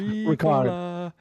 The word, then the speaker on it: Ricard: I keep wanting to go Ricola. Ricard. Ricard, yeah.